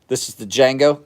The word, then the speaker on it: Django: This is the Django. Just remember the D is silent.